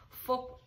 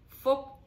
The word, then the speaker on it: Phuc: video i'm going to teach you how to pronounce folk in vietnamese folk is a vietnamese male name